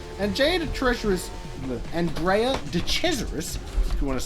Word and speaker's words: Andrea de Cesaris: pretty heroic stuff and jay the treasurer is andrea de cesaris if you want to say his name correctly